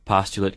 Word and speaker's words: postulate: What's more, postulate can be used as a verb, too, only it's pronounced postulate.